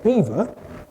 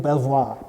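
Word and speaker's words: Belvoir: Bellev Bellevoir. Right. History has it that the local Anglo-Saxons couldn't pronounce the French and called it Beaver.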